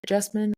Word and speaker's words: Jasmine: Now, if you're new here, I tend to tell people that my name Jasmine rhymes with specimen, but with a J.